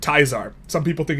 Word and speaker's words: Caesar: Everyone knows this is in fact Project Teaser, or if you pronounce it correctly, Project Tizar.